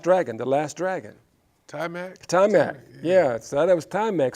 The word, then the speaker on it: Taimak: How you pronounce it? Taimak. Last Dragon, the Last Dragon. Taimak? Taimak, yeah.